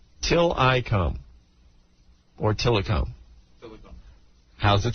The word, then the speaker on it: Tillikum: Tillikum. Or Tillikum. How's it spelled? Thank you, Anthony. It's spelled T-I-L-L.